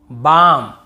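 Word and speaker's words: balm: डी एफ के एम डी एफ के एम इसके पहले एल हो तो हमें नहीं पढ़ना है जैसे काम बाम पाम और यहां पे आमंड बहुत से लोग आलमंड ऐसे बोल देते हैं बहुत काल्म बालम पाल्म नहीं होगा काम बाम पाम और आमंड ऐसे आलमंड आलमंड नहीं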